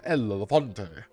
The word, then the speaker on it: El Elefante: Again, you have to say it right. You have to put that gut in the El Elefante.